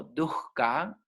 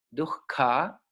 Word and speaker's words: dukkha: Entonces, la palabra dukkha, tiene una H ahí, se pronuncia como dukkha, dukkha, ¿ok?